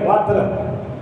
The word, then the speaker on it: وتر: یہاں تک حکم ہے کہ اگر کوئی وتر کی نماز جس کا صحیح تلفظ ہے وتر, کیونکہ قرآن مجید کا ارشاد ہے اصح اللغت قرآن عظیم ہے, والفجر ولیال عشر والشفع والوتر.